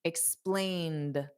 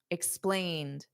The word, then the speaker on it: explained: Now, the ED is just pronounced as a soft D, explained. So the ED does not add an extra syllable. Da, explained.